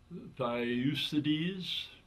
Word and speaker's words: Thucydides: I think if you understand principles, and like Dan and I are just talking, I'm going to mispronounce this Greek philosopher's name, but I think it's Thucydides. But he said the secret of happiness is freedom.